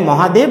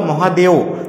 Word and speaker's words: মহাদেব: এই মহাদেব রেঞ্জে রয়েছে এটাকে মহাদেব বা মহাদেও দুটোই উচ্চারণ করা হয়ে থাকে এবং আরেকটা হচ্ছে মৈকাল